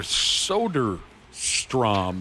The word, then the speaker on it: Soderstrom: Tyler Soderstrom is how you say it.